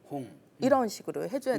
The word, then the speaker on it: 홍: 예를 들면 이홍열 사회자님 하면 오라는 모음은 원순 모음이에요. 그래서 입술 순자 둥글 원자 원순 입술을 둥그렇게 해서 홍 홍. 이런 식으로 해줘야 네, 되는데 홍.